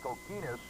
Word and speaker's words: Kokinis: I'm his mom, so I can tell you it's pronounced Kokinis with the emphasis on the key.